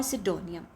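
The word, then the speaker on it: pseudonym: Title nomenclature nick name और सिडोनियम। The right answer is सिडोनियम। ठीक है? यहां पर पी साइलेंट होता है और ये स्पेलिंग्स में भी बहुत बार आता है ये वाला वर्ड।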